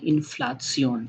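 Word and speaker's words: Inflation: Spelling भी same है किंतु प्रोनंसिएशन डिफरेंट है। जर्मन में हम बोलते हैं इनफ्लप्सियोन। इनफ्लप्सन इनफ्लासियोन नेक्स्ट वर्ड है फेडिनन।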